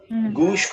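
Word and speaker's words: گوش: गूश के माने होते हैं कान के फारसी में, और इस गूश को हमारे यहाँ गोश कहा जाता है। पूरे सब कॉन्टिनेंट में इस लफ्ज का प्रोनाउंसिएशन है गोश।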